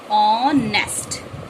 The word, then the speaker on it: honest: तो क्या हिंदी ग्रामर में देखा जाए तो हिंदी ग्रामर के पॉइंट ऑफ व्यू से देखा जाए तो इसका प्रोनाउंसिएशन है ऑनेस्ट।